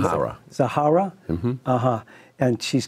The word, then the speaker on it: Zaharia: Am I pronouncing Zahara? Zahara.